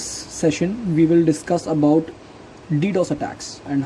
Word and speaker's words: DDoS: first of all this DDoS attack is a distributed denial of service attack distributed denial of service it is used with usually pronounced as the initials so it is an